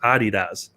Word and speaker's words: Adidas: So I was telling Kyle that apparently Americans say Adidas wrong. I was watching this the one day, and apparently Europeans, which is where Adidas is from, it's actually pronounced Adidas.